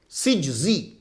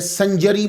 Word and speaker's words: سجزی: تو یہ صحیح تلفظ جو ہے سین جیم زا یہ ہے سجزی. یہ کاتب کی غلطی کی وجہ سے سنجری مشہور ہو گیا.